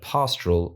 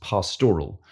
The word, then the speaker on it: pastoral: in the last episode, I pronounced the word pastoral as pastoral, or even pastoral in some instances, which is, of course, incorrect.